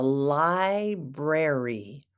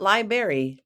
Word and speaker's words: library: to this place the library library not liberry no berries at the library I know it looks like library but it's Library do you like to